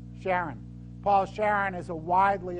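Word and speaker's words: Charron: of this company it's Paul Sharon or Karen pronounce it Sharon Paul Sharon is a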